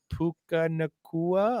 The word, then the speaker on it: Puka Nacua: I was like, Puka Nacua. I was like, it sounds like a necklace.